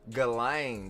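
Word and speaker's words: Ghislaine: to put a some galain that's how you pronounce the name I ain't going to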